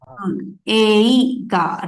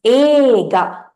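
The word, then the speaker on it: 映画: So we will read it as Eiga, right? But actually, the pronunciation is different, right? We will pronounce it as ega. E will not be there. It is not eiga. It is ega.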